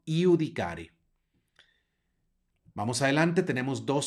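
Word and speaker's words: iudicare: Vamos adelante y aquí tenemos una jota subrayada porque suena como y no se dice adjudicar es sino yudicare Vamos adelante tenemos dos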